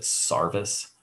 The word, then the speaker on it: sarvis: over here from europe they pronounced it sarvis in the old english accent that was being used back in uh you know the 16 1700s and they called this sarvis because they would typically